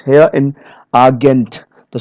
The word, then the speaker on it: Agent: So here many foreign loan words, usually of French origin, okay, they stress the final syllable as in the source language. Final syllables here in agent.